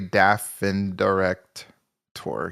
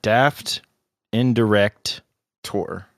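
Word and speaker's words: Daftendirekt: me on this pronunciation it kind of has like German pronunciation dind director like literally Daffin direct Tor yeah I think that's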